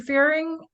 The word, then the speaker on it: Fearing: Fearing, am I pronouncing your name right? It's firing rhymes. Firing. You have it right.